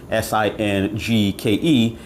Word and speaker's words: Singke: Now, at the time when I saw this set, which is branded Singke, I believe that's how it's pronounced, Singke, was selling between $60 and $70.